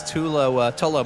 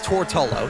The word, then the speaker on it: Tortolo: past couple of weeks, it was Tolo, my apologies, defaulting back to the old pronunciation. We'll get it right. It's Tortolo. Yeah, we'll get it right by the end of 2029.